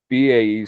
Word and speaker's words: BAE: I know that so I know that BAE Systems uh though I I prefer your pronunciation. So I know that Bay Systems has made a couple of acquisitions over the past few years.